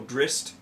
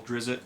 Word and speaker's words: Drizzt: So Drist, who I used to call Drizzt, but Drist is the correct pronunciation.